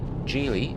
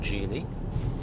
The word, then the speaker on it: Geely: I only had it for less than a day, but that's my short review of the Gely. And it is a soft G like that. J EX5.